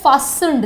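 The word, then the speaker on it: fastened: क्या वर्ड है? फास्टन्ड। देखो टी साइलेंट यहाँ पर मैंने रखा है।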